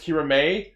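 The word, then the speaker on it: Kiramai: I was getting to it is weird to see it written because it's pronounced Keira May yeah but I saw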